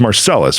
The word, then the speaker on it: Marcellus: Your last name is pronounced Marcellus, right? I should have asked that before we started the show, but that's okay.